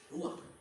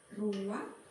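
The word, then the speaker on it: רוח: dalam bahasa ibraninya adalah ruang ruang benar tenggorokan kita harus benar-benar bersih di akhir pengucapan jadi apa itu ruang dapat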